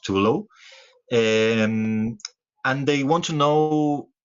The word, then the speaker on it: Total: name a to low sorry to low hotel always pronounced to low and they want to